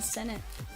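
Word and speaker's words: Sinnott: It's not Ben Sano. I thought it was Sano. Ben Sennett.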